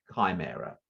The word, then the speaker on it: chimera: that rightly but it's spelled c-h-i i don't know not cheek chimera there you go well we put